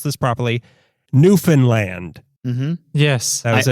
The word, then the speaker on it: Newfoundland: because this one is not quite a local shop, but it's a hyper-local company too, and we looked up how to pronounce this properly, Newfoundland.